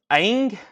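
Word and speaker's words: Aang: never had this before Avatar is his name pronounced Ang a a NG G with Momo I don't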